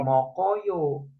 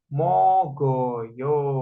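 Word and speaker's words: 먹어요: contoh lainnya kayak gini ini dibacanya mok ini O ini yo jadinya bukan mokoyo tapi koknya gnya itu yang dibaca ka itu naik ke sini mengisi kekosongan jadinya dibacanya mogoyo biasanya orang Korea tuh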